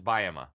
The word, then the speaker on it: Bajema: remembering my name, it's you say buy him a Coke really fast. So you just say buy him a Coke and you'll never forget it. Okay, so the way to pronounce it is Bajema.